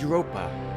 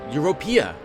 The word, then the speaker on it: Europea: my name is europa oh europea oh i've been saying her name wrong this entire time until recently i was